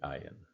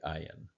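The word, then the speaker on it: עין: In Gomorrah is the sound of the ayin, but it's a very back of the throat guttural G, and almost an NG sound.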